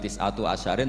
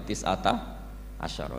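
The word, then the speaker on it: تِسْعَةَ عَشَرَ: Berarti alaiha itu tetap yang ngatasin neraka tis'ata asyara utawi 19. Tetap bacanya bukan tis'atu asyarin tapi tis'ata asyara.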